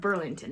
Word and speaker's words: Burlington: Alex, Lord Burlington. That's how you say it. Alex, Lord Burlington.